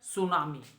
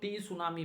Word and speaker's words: tsunami: इसको सुनामी इसलिए बोलते हैं बेटा क्योंकि टी साइलेंट है. ठीक है, कई बार बच्चों से रीडिंग कराओ तो टी सुनामी बोलते हैं, बहुत बच्चे बोलते हैं टी सुनामी. इट इज नॉट टी सुनामी, इट इज सुनामी because टी is silent.